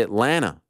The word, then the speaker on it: Atlanta: now by the way stop pronouncing the second T in Atlanta we say Atlanta is that true juicy